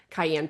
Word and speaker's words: cayenne: I called cayenne pepper Kanye pepper for the longest time.